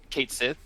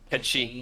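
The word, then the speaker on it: Cait Sith: Uh, you know, you know Kate Kate Sith is that you guys I told you this actually is pronounced like what? Kate Ketchi or something like that. Ketchi.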